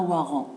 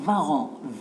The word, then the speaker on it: warrant: ont très bien mais ce n'est pas un war an c'est un varan vais parce que ce mot est d'origine allemande et en allemand le w se prononcent enlever le vin rouge